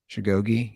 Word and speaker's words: Khashoggi: And I know everybody wants to bring up the murder of Jamal how's his name pronounced? Khashoggi, that journalist that was killed.